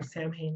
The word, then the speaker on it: Samhain: As many witches, one of the things I always look forward to is Samhain, which is Halloween, or Samhain, the way you pronounce it.